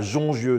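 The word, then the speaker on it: Jongieux: Éric Carrel, bonjour, vous êtes vigneron à Jongieu, je prononce bien? Tout à fait, à Jongieu.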